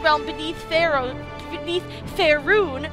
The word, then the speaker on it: Faerûn: beneath their own beneath fair rune that is how you pronounce that faerûn the Dark Elves